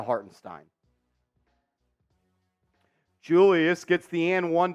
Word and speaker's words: Hartenstein: Stein or Haron Stein I have said it both ways but I'm going to say har and Stein going forward because that's how I heard him say his name the other day he calls himself Isaiah hartenstein so therefore I'm going to call him Isaiah hartenstein Julius gets the an